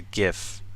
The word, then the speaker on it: GIF: game you can export a solution as a GIF. It's pronounced GIF, by the way.